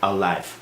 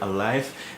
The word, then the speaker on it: Aliv: the other one is alive even though it's spelled as alif for some reason but it's pronounced as alive how much will a